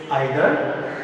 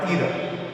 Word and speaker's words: either: It can be pronounced in two ways, either or either.